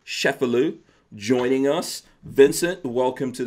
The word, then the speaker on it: Cefalu: This is the book, Rat Snakes, Vincent A. Cefalu. We're going to get into that. That's the proper pronunciation, I believe.